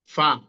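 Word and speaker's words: فاء: এরপর হচ্ছে আপনার মিম, ফা। হ্যাঁ, তো এখানে ঠোঁটের সাথে সম্পৃক্ত ঠোঁট অর্থাৎ মানে সাফাবি, অর্থাৎ আমাদের যে ঠোঁট থেকে যে দুটো অক্ষর উচ্চারণ হয় সেই দুটো হচ্ছে মিম, আপনার হচ্ছে বা, ফা, এগুলো।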